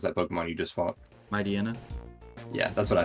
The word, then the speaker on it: Mightyena: Mightyena? Yeah, that's what I say too. I think it might supposed to be like Mightyena, like hyena.